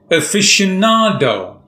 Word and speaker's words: aficionado: today's word is aficionado there are five syllables and the fourth syllable is stressed aficionado no stress it means